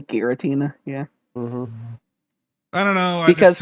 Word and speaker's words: Giratina: okay but okay or hard g versus soft g geratina it's almost definitely giratina yeah i don't know